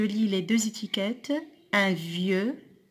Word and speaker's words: vieux: Un vieux, I-E-U se prononce ieux, X ne se prononce pas.